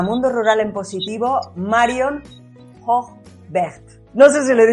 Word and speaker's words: Hoogwegt: Bienvenida a Mundo Rural en Positivo, Marion Hochberg.